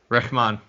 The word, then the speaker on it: Rehman: h like this sound like like a ramon reshman yeah that's perfect okay right all right welcome